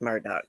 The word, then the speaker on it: Murdaugh: on oh yeah and the murdock name i just don't see how that's pronounced murdoch i hear it on tv pronounced that way it looks like mordon to me but their name was